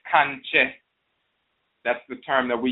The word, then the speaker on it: Kankye: And the person would say that Kankye. They would assume that we were saying conjure. Instead of saying conjure, we were saying conjure or kanje. And they say, oh, well, they're just mispronouncing conjure. And what they're really saying is conjure. We were saying Kankye.